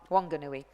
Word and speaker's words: Wanganui: The Nelson Composite is a New Zealand crew between Nelson and Union, how do you pronounce that, Wanganui? Wanganui.